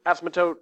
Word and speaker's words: asymptote: It looks like it's asymptote. But you say it faster, asymptote, that's how you say it.